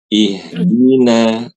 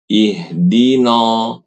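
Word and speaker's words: اهدنا: Ketika membaca ihdina, nanya itu ibu bacanya no bukan ihdina. Coba ibu bedakan. Ihdina. Ikuti ihdina dengan ihdino.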